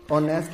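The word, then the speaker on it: honest: अगर sound vowel है, जैसे ऑनेस्ट में फर्स्ट लेटर एच जो है वो साइलेंट होता है, ऑनरेबल में फर्स्ट लेटर एच जो होता है वो साइलेंट होता है, इनको हम प्रोनाउंस नहीं करते हैं।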